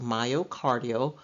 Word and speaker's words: myocardial: the medical term used uh myocardial it is pronounced myocardial means pertaining to the heart muscle next Endo